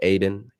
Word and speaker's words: Aidan: d a n um it's pronounced aiden aiden x brother aidan